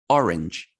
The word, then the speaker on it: orange: differently listen to me orange two syllables orange right orange yeah yeah right americans orange orange orange it's one syllable dude that freaks me out